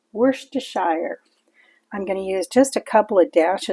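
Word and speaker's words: Worcestershire: to make it look pretty I've got some wor toire sauce yes it's pronounced wor toire I'm going to use just a couple of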